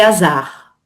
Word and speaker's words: hasard: Par contre, hasard, c'est un H aspiré. Aspiré, ok. Liaison interdite.